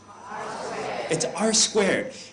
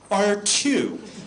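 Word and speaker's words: R²: name of the product r squared it is not R2 it and I I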